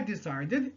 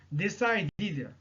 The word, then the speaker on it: decided: C'est-à-dire le ed à la fin, on va le prononcer comme id. Après, les sons d et t. D et t. Exemple, decide, decided. Non pas decided et non pas decided. Non, c'est decided.